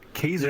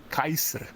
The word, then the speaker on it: Kaysr: So yeah, like, and even like I don't mind people even saying Kaiser, but Kaiser is not even the real pronunciation. But I don't really care about Kaiser correcting that. It's actually Kaiser.